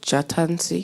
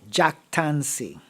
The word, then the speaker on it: jactancy: You said Jatancy? No, Jactancy.